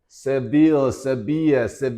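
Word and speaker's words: Sevilla: 난 디에고 I live in severe 이때 L이라는 말 갖다가 뭐뭐이야 이에 이렇게 발음을 하거든. 스페인 말은 그지?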